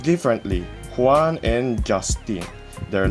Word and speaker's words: Juan: Dy or letter or it can be pronounced as H in Filipino since uh we Filipinos